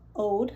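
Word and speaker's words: Aude: because her husband, Mac, the woman's name is Ode, like Ode to Joy. It's spelled A-U-D-E, and then her husband's name is Mac.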